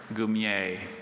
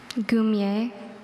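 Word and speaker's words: goumier: Gumier.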